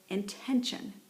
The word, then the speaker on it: intention: and the word is intention okay so that's accented this way attention and excuse me intention intention okay so the stress is on the second syllable intention all right and